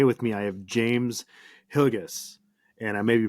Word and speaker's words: Hillegas: Hannah and today with me I have James hgus and I may be pronouncing your last name right is that correct